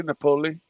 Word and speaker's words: Napoli: How do you pronounce his name, Timely? I would say Napoli.